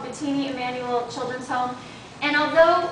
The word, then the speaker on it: Mbitini: starting to hear it they do say the M but it's just so slight that we don't pick it up so B always has